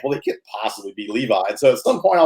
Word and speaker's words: Levi: ass in america like it's not levy it's levi but everybody says levy because i think they just think well they could possibly be levi so at some point